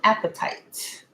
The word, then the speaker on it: apatite: This right here, this right here is called an apatite. Not like you're hungry.